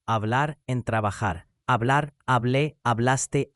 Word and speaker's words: hablé: Notice the accent marks on hablé and habló. These aren't optional decoration. They actually change which syllable is stressed, and without them, the word can be confused with a different tense.